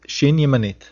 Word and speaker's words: shin yemanit: The first form of shin, pronounced sh, is called shin yemanit.